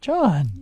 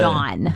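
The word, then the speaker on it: jawn: a new word for you though Sean John John j-a-w-n Sean yeah what uh any guesses as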